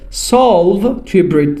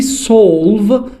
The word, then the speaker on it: solve: تلفظش یه تفاوتی وجود داره. solve توی امریکن هست، یعنی انگار آیه کشیده هست، ولی solve انگار مثل چیز تو مایه آ و او، وسط آ و او توی بریتیش هست که باز گفتم این تفاوت جزئی هست.